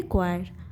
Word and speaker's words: choir: और इसकी प्रोनाउंसिएशन होती है क्वायर।